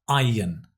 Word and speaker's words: iron: We don't pronounce the R, it's iron, yin, yin, iron, iron, iron.